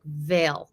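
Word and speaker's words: Weil: I have a Raymond whale is it whale or Veil it's it's I can't do the pronunciation correctly but it's we i l and it's pronounced like Veil like it's like a WV sound like I can't I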